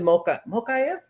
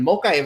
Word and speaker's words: Mokaev: And the first one I wanted to talk about was Muhammad Mokaev. Mokaev, I think that's how you pronounce it.